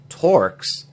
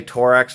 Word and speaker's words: Torx: my mystery for town mispronunciation of the word torques regarding star bits looked it up some people do say tor x for a while some